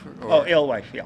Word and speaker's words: Alewife: out where we are, I don't want to pronounce the place because I forget what it is. Alewife? Alewife, yeah.